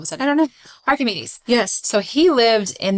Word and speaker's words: Archimedes: That's how you say it, right? It is. Why am I doubting it all of a sudden? I don't know. Archimedes.